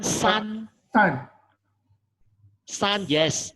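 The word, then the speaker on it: 三: 1, shan, Not shan, san.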